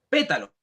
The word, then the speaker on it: pétalo: Pétalo. Nosotros decimos pétalo. En la antepenúltima sílaba estamos acentuando la palabra.